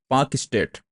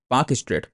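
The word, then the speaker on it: Palk Strait: में इसको बोलते हैं पाक स्टेट पाक स्टेट पाक का मतलब पाकिस्तान नहीं है बल्कि इसकी स्पेलिंग देखो पाक की पी ए ए एल के है ठीक है कहां पे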